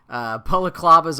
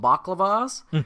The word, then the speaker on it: balaclava: Except when I was a little kid, I didn't know how to pronounce it, so I called them baklavas, which of course is not a ski mask.